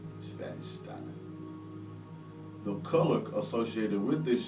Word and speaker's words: Svadhisthana: The Sanskrit word is pronounced Svadhisthana. Svadhisthana.